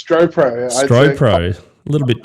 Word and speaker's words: Stropro: founder of stopr is that how you correctly pronounced the name mate yeah it's stro proo stro proo a little bit tricky but all